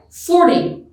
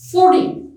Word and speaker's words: forty: 40 receives stress or emphasis on its first syllable, right? 40, 40, 40. I give emphasis on the first syllable.